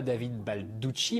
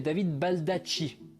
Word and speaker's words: Baldacci: Premièrement, ça ne se prononce pas David Balducci, mais David Baldacci.